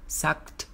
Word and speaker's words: sucked: คุณรู้อะไรไหม My Christmas already sucked สังเกตและฟังดีๆว่านางเอกจะออกเสียงว่า sucked ลงท้ายด้วยเสียง k ใส่ ed เข้าไปจะเป็น k แล้วก็ t sucked Christmas ฉันน่ะห่วยพออยู่แล้วเนี่ย so you can go nail it